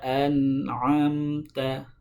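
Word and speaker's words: أنعمت: Ya, ain itu harus diingat tempat keluarnya adalah dari tengah tenggorokan. An'amta, an'amta. Harus dibedakan membaca huruf hamzah dengan ain. Kalau hamzah itu di pangkal tenggorokan, sedangkan ain itu di tengah tenggorokan. Nah, sering kita dengar, sering kita jumpai yang membaca an'amta dengan an'amta, an'amta. Ainnya dibaca hamzah di pangkal.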